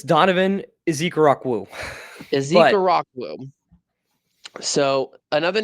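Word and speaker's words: Ezeiruaku: I believe it's Donovan Ezekarakwụ.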